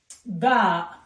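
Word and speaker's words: باء: It's like ba, like book.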